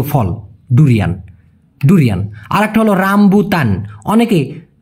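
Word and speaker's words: rambutan: হচ্ছে মালয়েশিয়ার জাতীয় ফল ডুরিয়ান ডুরিয়ান আরেকটা হল রামবুতান অনেকে উচ্চারণ করে রামবুতান মানে উচ্চারণ করে যেহেতু এখানে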